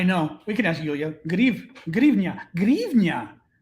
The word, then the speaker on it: гривня: Grivnia is how you pronounce it.